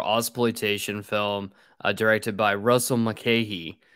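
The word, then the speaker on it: Russell Mulcahy: film uh directed by Russell mckeehee as I found out that's how you actually pronounce his name on the episode uh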